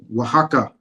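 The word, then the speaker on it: Oaxaca: oaka sir what is waka waka waka that and that's how they pronounce it in Spanish but in how pronounce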